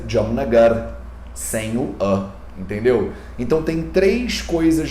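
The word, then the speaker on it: Jamnagar: moro na cidade jamonagar na verdade a palavra se escreve dia mas ninguém fala de amor nagara porque o a é fraco o último a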